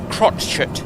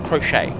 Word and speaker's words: crotchet: um yeah um uh put a t before the CH crot it not crochet um and then the